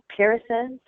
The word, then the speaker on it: peeresses: There's 3 syllables there. See the word before it, peers? Yep. That's male. Now, peeress is female. And then you plural it, so peeress is. Think of the last es as is. Or actually iz if you want to be technical.